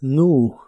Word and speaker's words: knew: En el pasado es nu, aquí solo se pronuncia la n y la w u o un sonido de la u.